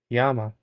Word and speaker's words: Lama: My friend Faith Lama, pronounced Yama, is watching the video.